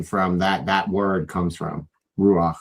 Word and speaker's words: Ruach: Like Rush was saying the whole time, he was mispronouncing a Hebrew word because it has the sound at the end of it.